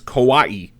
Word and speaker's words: kawaii: had to i had to look up the pronunciation because i wanted to make sure that i said it's kawaii yes kawaii which is sort of the uh i was